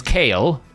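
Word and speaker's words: Kael: The last time it was Kale. The first time they talked about it, it was Kyle, and we're like, oh, we've been saying it wrong all these years.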